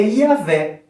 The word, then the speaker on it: Yahvé: E hoje convencionou-se de que a forma que nós temos para pronunciar essa palavra é Yahvé. Yahvé não é Jeová.